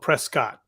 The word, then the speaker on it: Prescott: go is Prescott Arizona which is looks like it's spelled Prescott but it's actually pronounced Prescott which is I don't know I don't know